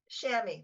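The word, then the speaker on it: chamois: I I simply could not understand it was Shamy which is spelled CH h m o i s okay I honestly that's the first time I've heard it said aloud shammy that that's that's the way everybody pronounced it except that I had only encountered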